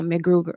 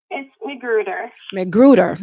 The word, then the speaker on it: McGruder: to Valencia right now macGruber macGruber macGruber I know I'm saying it wrong she's gone correct me go ahead go ahead Valencia correct me say the last thing for him McGruder I knew I was